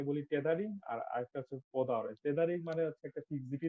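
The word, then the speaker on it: peau d'orange: এই জায়গাটা দেখেন আর এই জায়গাটা দেখেন, এটার উচ্চারণ কিন্তু পদা অরেঞ্জ, কিন্তু মানে প্রোনাউন্সিয়েশন পিউদা অরেঞ্জ না। আচ্ছা, ঠিক আছে, এখন ক্লিনিকের স্পেলিং হয়তো ওইরকম, কিন্তু প্রোনাউন্সিয়েশন হচ্ছে পদা অরেঞ্জ।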